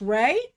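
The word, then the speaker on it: Rhea: It's pronounced Ray.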